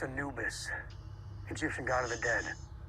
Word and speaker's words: Anubis: ship's called the anubis ah the anubis it's pronounced anubis egyptian god of the dead okay his eyes say a lot anubis works too right so the crew of this